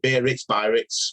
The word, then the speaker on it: Biarritz: Anyway, it was in I don't know how you pronounce it. Is it Biarritz, whatever? Yeah, Biarritz.